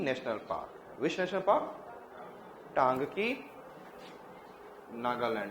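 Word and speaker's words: Ntangki: टांगकी tribe. Which tribe is there? N is silent.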